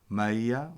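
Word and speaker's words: ܡܝܐ: grammatically that it's saggy western pronunciation doesn't do it as much but in eastern it's very clear it's maya water remember it's always plural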